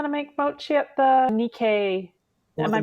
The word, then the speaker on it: Nikkei: first learn how to make mochi at the nikkei am i pronouncing that right cultural center yeah yeah that's